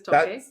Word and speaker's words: toque: So, there's the the cante, which is the singing, and the toque toque tocu, I don't know how you pronounce it. You you're better toque. I think it's toque.